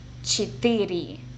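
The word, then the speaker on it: четыре: number four this is actually kind of tricky chitiri five Pat Pat kind of like a pat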